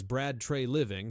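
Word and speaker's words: Brad Treliving: For now, the confirmed facts remain clear as Brad Trey Living pronounced as Brad Trey Living has acknowledged active evaluation and the Maple Leafs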